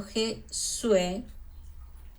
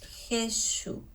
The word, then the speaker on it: Jesús: los sonidos subiese así tenemos el nombre jesús no pronunciado je suis sino más bien jesús eso recuerde que la